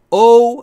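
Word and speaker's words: owe: بدهکار بودن مدیون بودن دقت بکنید بچه‌ها اینجا دقیقا تلفظ دبلیو خودشونو نشون میده او بعضیا میگن این دبلیو تلفظ نمیشه ولی داره تلفظ میشه دقیقا ما چون صداشو تو فارسی نداریم فکر میکنیم تلفظ نمیشه اینجا او لبها حالت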